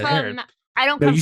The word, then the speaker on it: Herod: I know I said it wrong, but Well, I just I know you learned, said it wrong, know, too. I really honestly had because it's Herod.